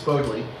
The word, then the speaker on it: Bodleian: Um I started covering a little bit about the Bodley Club and I've mispronounced it saying it was Bodley, it's Bodleian.